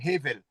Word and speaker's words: Hevel: Et comme et comme le Abel commence par cette lettre là, c'est normalement c'est hevel.